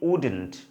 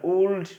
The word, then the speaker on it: would: ওকে, আমরা যদি এখানে আরেকটা বিষয় লক্ষ্য করি, এখানে কিন্তু উড রে আমরা ওল্ড বলি অনেকে, এটা কিন্তু ভুল প্রোনাউন্সিয়েশন, সঠিক না। এখানে কিন্তু এলটা সাইলেন্ট থাকবে, সো আমরা কি বলবো would not, would not এর কন্ট্রাক্টেড ফর্ম কি হবে wouldn't, wouldn't.